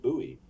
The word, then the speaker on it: buoy: Besides, it doesn't rhyme for Americans, who pronounce it buoy.